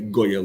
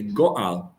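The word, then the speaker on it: גואל: And he says, isn't it interesting that there's two ways which we pronounce Geula? Sometimes we say Goyal Yisrael, and sometimes we say Goal Yisrael.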